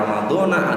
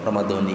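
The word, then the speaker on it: رمضان: Maka bacanya ada yang Ramadona, ada yang Ramadoni. Ini betul semua.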